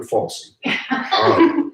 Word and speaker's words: Fauci: Fauci did, and I didn't mispronounce that, it's Dr. Fauci, did when he first came out and said masks are worthless.